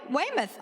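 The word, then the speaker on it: Weymouth: Abigail Smith's father was a congregational minister at Wemouth. Somebody from Massachusetts, tell me how to say that. I did it right. Wayimoth.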